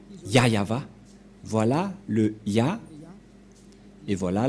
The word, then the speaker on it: YAHVAH: et donc c'est bien la vraie prononciation de son non yayava voilà le ya et